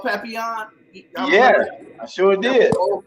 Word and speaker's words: Papillion: Papillion.